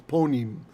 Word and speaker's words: panim: Actually, the ah is oftentimes an O in Ashkenaz pronunciation, so it's actually, not panim, it's ponim, right?